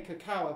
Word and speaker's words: cacao: They actually pronounce it cacao. Yeah, I don't know. I can never watch it. It's A-O, isn't it? It's yeah, C is pronounced with a K, cacao, but that's in the Latin.